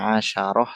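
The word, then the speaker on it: عشرة: kalau ini 10 ya 10 itu pengucapannya asyarah sama asrun asrun asyaratun itu kalau berdiri sendiri asyrun asyaratun tapi kalau dia murakab jadinya asyaro asyrata tinggal dibalik aja kalau berdiri sendiri artinya dia adat mufrad bacanya asyrun dan asyaratun.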